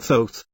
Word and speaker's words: Thoth: The person depicted here is a man named Thoth, pronounced with a long O. Someday people say Thoth, but he pronounces it Thoth.